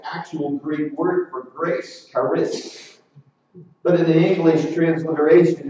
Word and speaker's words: Charis: It looks like the letter P, but it's pronounced with an R.